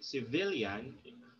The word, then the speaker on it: civilian: for example here uh the word civilian has three syllables okay okay but this the the the stress is put on the second okay syllable because that's the syllable before the suffix okay so please remember